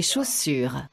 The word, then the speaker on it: chaussures: je porte des chaussures, Je porte des chaussures. And remember the de, because you don't pronounce the S on the end.